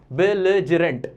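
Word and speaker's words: belligerent: देख लो इसका प्रोनाउंसिएशन देख लो, बिलिजरेंट, ठीक है।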